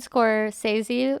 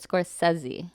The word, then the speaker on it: Scorsese: yeah scorsese scorsese um i said score says you my whole life but i heard it score sessy oh i think that's